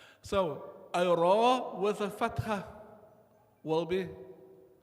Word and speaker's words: ر: So my mouth is in the position of a u sound, but I'm pronouncing a.